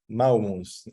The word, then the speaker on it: Maumus: name is Tomas, and the last name is pronounced again. Maumus. Thank you so much. And that's Maumus.